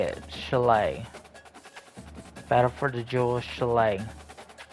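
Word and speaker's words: Shillelagh: Chalet.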